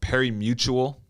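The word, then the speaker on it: pari-mutuel: and it started with what's called perry mutual all right it's it's spelled really funky it's p-a-r-i-m-u-t-u-e-l but it's basically using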